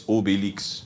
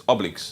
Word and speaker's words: Obelix: Okay, in French it's Obelix. Oh. In English, in your English, it's Obelix.